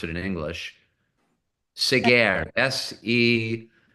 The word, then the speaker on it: Seghers: It's spelled Hercules, which is how we would pronounce it in English. Seghers, Seghers.